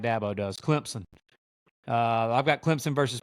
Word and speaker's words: Clemson: for my throat because I pronounce them Clemson all the time they said there's no Z in Clemson so I'm just going to start pronouncing it like dbo does Clemson uh I've got Clemson